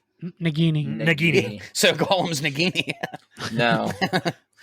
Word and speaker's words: Nagini: Nagini.